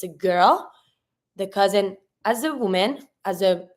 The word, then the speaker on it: cousin: and then the cousin cousin quite easy the cousin here pronunciation every time you have a s that is between two vowels z sound so here because the